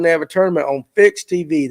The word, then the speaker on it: PHYX TV: You can follow it when they have a tournament on Fix TV. That is PHYX TV. Correct? I said it right. PHYX. It's a different, but it's Fix TV.